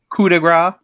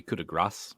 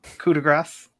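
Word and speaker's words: coup de grâce: on his pronunciation gary kudigrah well apparently it's supposed to be kuda grass coup de grace i think that was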